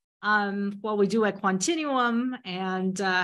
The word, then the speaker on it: Quantinuum: to say its name it's like Continuum but with the quantum inferences Continuum um quantino was formed